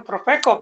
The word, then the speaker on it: Profeco: They started getting all these fines from Profeco because their service was pretty bad.